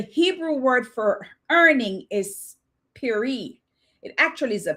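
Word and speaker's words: פרי: The Hebrew word for earning is piri. It actually is a P with an apostrophe and two E's, right? It pronounced peri, and it means, get this, fruit of actions.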